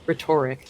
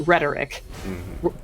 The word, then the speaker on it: rhetoric: it's an adjective or so it's not rhetoric, it's rhetoric. But it's not rhetorical, it's rhetorical. Because you tend to put the emphasis on the second syllable.